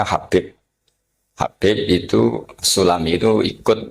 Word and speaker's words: Habib: Itu di harakatnya kitab itu ada yang nulis khubb. Tapi yang benar Oh, nggih. Yang benar itu bacanya Habib.